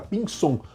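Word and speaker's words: Pinzón: o nome do Sono se escreve com z visão mas é pronúncia do Zelo espanhol tá mais parece lembra pinson por isso que a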